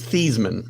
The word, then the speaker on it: Theismann: he changed how he he changed how he pronounces his name back when he was at notre dame so it would rhyme with heisman his name is thiesman oh so he changed